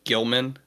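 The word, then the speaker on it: Gill-man: uh Frankenstein Dracula the Bride of Frankenstein and Gilman aka the Creature from the Black Lagoon those are all be purchased by my wife immediately and it's pronounced Gilman excuse yes Mr Gilman I I assumed because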